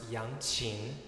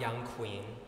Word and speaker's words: yangqin: up okay spelled y-a-n-g-q-i-n pronounced young chin not young queen i'm the young queen